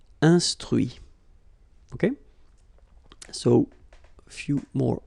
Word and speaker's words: instruit: Instruire, instruit. Okay, so you can notice that even if I put this final T, so as usual, I don't pronounce it. Okay, conduit, construit, cuit, détruit, instruit.